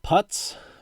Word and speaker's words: Putz: JJ, how do you pronounce that? Putz, Putz, from Upper Deck.